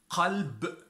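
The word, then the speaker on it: قلب: But if we want to pronounce the Kaaf, it is qalb, heart.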